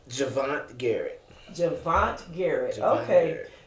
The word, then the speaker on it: Javonntte Garrett: Javonntte Garrett. Javonntte Garrett. Javonntte Okay. Garrett. The way it's spelled, I'm sure you struggled in school to get out of kindergarten to spell that, huh?